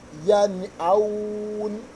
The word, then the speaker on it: يَنْأَوْنَ: If you see that what we pronounce this nun sakina clearly, that is clarity. Followed by what? Amsa. That is yan aun. Whenever you come across something like this, you will clarify this nun.